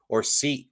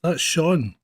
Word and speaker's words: Sean: it's spelled J, or Scene, SEAN, Scene. So you have to get those right. No, that's Shaun. SEAN is how you is one of the spellings for Shaun.